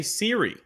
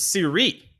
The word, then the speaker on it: Siri: I actually found out it's not Jose Siri. It's Siri. It's got an accent on the second I.